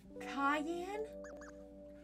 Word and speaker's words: Cayenne: forgot it's sad face Cay am pronounced like the pepper you have to look